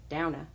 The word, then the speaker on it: Douna: Again, this is inspired by Rinska Downa, not Duna. I went back and watched the videos and listened to her say her name so I can say it properly.